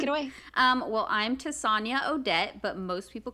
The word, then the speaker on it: Tessonja: pronounce it um but it's tasanya and it rhymes with lasagna and yes i was